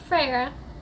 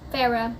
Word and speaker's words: Farah: I did I did not like frah or however I'm pretty sure it's Farah because it pronounced it in the book but I didn't like